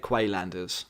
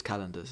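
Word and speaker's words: Qalandars: You would say it Quaylanders, but I think it's Calendars is how you say it.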